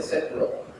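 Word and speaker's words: {log}: Se escribe de esa manera estrambótica, se pronuncia setlog.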